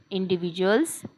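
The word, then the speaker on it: individual: मार्गदर्शन करतात हेल्प इंडिव्हिजुअल्स इंडिव्हिजुअल्स इंडिव्हिजुअल मध्ये जेडी आलेला आहे त्याला आपण जे ज चा आवाज काढणारे च्या ऐवजी ज म्हणणारे इंडिव्हिजुअल हा शब्द असा वाचणार आहोत आपण इंडिव्हिजुअल मोरल व्ॅल्यू गाईडलाई्स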